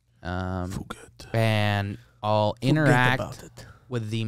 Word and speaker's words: Phuket: I'll walk around Phuket, Thailand. mm-hmm. Otherwise pronounced as fuck it. Phuket.